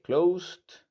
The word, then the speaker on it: closed: Y mantenemos la pronunciación de la lista que ya veíamos previamente hasta que veamos, por ejemplo, antes de ED una T o una D. Entonces, como no es el caso, entonces sería closed.